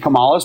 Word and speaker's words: Kamala: What policy does Kamala have? Period. Kamala. Wait, can we clarify that you don't know? Can we clarify you don't know any of Trump's policies but tariffs? You know any of Kamala's policies?